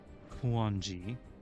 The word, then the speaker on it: Kuonji: I know that's not how you pronounce it. I'm just going to pronounce it Kunoji because that's all I'm saying. Kuonji.